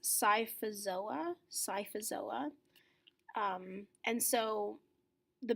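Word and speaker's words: Scyphozoa: so jellyfish are under the class this is pronounced psifas OA psifas illa and so the main characteristic of psifas OA or jellyfish is that as you can see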